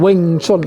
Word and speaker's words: Wing Chun: Und ich wusste, wie man den ausspricht. Den spricht man Wing Chun aus.